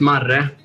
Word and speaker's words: Marre: It's my Swedish nickname is Marre, but in English you can say Marimeister or however you feel like it's.